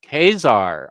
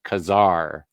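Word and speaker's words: Ka-Zar: to say his name I'm assuming I've always said kesar but I think I've been corrected to Kazar only because of the dash yeah Kazar Sam and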